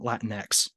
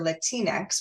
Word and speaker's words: Latinx: you using the term Latin X? That's a great question. Latinx or Latinex, which can be pronounced either way, is the gender non-binary formation of the term Latino because Spanish is a gendered language.